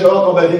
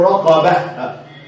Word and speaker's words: رقبة: اما انا هقف هنا، هقف عند كلمه رقبه، ما اقولش رقبه، اقول رقبه، انطق التاء مربوطه ها وساكنه.